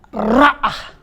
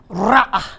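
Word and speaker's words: רעה: Tahukah saudara, kata gembala di dalam bahasa Ibrani itu diterjemahkan, dibacanya adalah ra'ah. Sekali lagi, ra'ah, yang artinya adalah menggembalakan.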